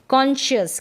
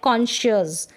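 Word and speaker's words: conscious: अब एससी को हम श पढ़ते हैं। ठीक है? एससी को हम श भी पढ़ते हैं। जैसे कि इन दोनों स्पेलिंग्स में दे रखा है। कॉन्शियस।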